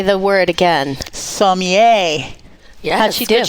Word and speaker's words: sommelier: Sommelier. Yes, How'd she do? Good job. Very good. Practicing. Good job. Yes. Sommelier. Sommelier. Which is spelled sommelier. Sommelier. From Somalia.